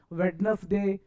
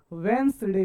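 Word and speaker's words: Wednesday: बुधवार को तोब बहुत बच्चे क्या बोलते हैं सर वेडनेसडे नहीं साहब वेडनेसडे नहीं बोलने का वेनस डे बोलने का क्या बोलने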